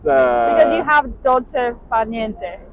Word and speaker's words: dolce far niente: It's because you have dolce far niente, right? Did I say it right? it's right, dolce far niente.